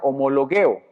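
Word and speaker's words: ὁμολογέω: porque esta palabra confesar viene de un griego que se pronuncia homologueo y es una palabra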